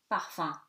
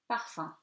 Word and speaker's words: parfum: UM at the end of the word, exception for this word which is parfum and which becomes nasal. Okay, so parfum. UN before a vowel or